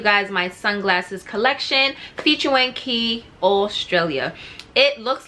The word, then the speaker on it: Quay: haul showing you guys my sunglasses collection featuring key australia it looks like it's pronounced quay but it's pronounced ki okay so i received a whole bunch of